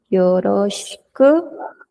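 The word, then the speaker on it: よろしく: Esta U no suena. Esta U tampoco, o ya saben que muy sutil. Esta I tampoco, antes de la K. Se pronuncia yoroshiku.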